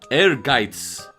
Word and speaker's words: Ehrgeiz: on the correct pronunciation the word is pronounced air gates to break this down further the first part air is pronounced like the word air AI R the second part guides is pronounced by making a TS sound similar to the Z in pizza and while yes I'm